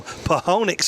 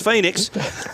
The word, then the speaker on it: Phoenix: the SEC joining us right now live from ponix Arizona that's how you that's how you physically pronounce it but it's Phoenix our man AP stum how you doing brother